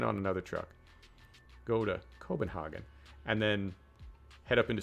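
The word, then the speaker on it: København: because i'm an american i would say copenhagen but it's not copenhagen it's cobenhagen hogging all right so what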